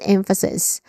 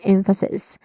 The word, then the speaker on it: emphasis: Pronunciation wise, we start with the stress syllable m which is short a vowel sound and then f which has awah sound and then sis. the short e vowel sound.